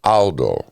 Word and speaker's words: Aldo: It's Aldo. Aldo. Right. It's an A.